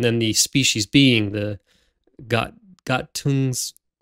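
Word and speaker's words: Gattungswesen: the species being, the Gattungsweisen? Is that Gattungsweisen? Gattungsweisen. Yeah, Gattungsweisen. Right, sure, yeah. Proper German pronunciation.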